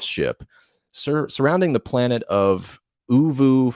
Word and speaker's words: Oovoo: surrounding the planet of Uvu 4. I think that's how you say it. Ovo. It's OOVOO.